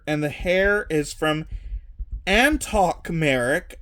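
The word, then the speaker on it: Antoc Merrick: the hair is from Antok Merrick. I always thought it was Anton Merrick, but I found out today that I was saying the character's name wrong from Rogue One.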